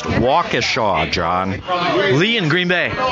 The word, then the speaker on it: Waukesha: Brian from, it's pronounced Waukesha, John.